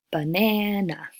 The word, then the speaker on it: banana: a word like banana the peak is the second syllable ne'er and the other two but enough turn to schwa so instead of ban and now we get banana if you have a